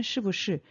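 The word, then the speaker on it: 是不是: 그래서 시부시라고 사용해 주시면 되고 부는 경성으로 발음해 주셔야 됩니다.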